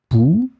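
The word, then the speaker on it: poux: And in that situation, we put the X in the end, but we don't pronounce it. So phonetically, it will be exactly the same. Pouls. So remember, whether singular, pouls, or then plural, pouls.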